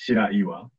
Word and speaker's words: Shiraiwa: My last name is Shiraiwa, which means white rock, but it's really hard to pronounce, so a lot of people have difficulty. It's Shiraiwa, and I'm the CEO